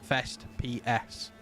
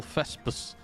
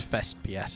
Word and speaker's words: Fest PS: I do that for people as well, because the correct pronunciation for this stream is Fest PS. Play something. But I go into streams and they're all Fespus. Fespus. That's Fest PS.